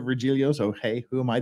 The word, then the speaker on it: Virgilio: that's how he pronounces his name he he pronounces regilio so hey who am I to say that's